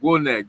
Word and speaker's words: Gwonek: It's really a Creole because I'm a Haitian name. It's called Gwonek, big man in Creole. Gwonek.